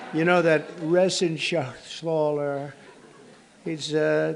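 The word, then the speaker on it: Reschenthaler: thank you and Guy Ren Shaler you know that Ren Shaler he's uh that's actually the way you pronounce it you know nobody else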